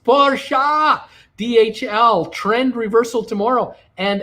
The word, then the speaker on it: Porsche: who else we got here we've got um pronounced parsha dhl trend reversal tomorrow and amazon all right